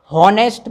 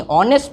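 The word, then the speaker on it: honest: Karim is dash हनेस्ट बॉय। हनेस्ट नहीं ऑनेस्ट पढ़ेंगे इसे। मैंने आप लोगों को बताया था जहां साइलेंट वर्ड हो ठीक है ना वहां हम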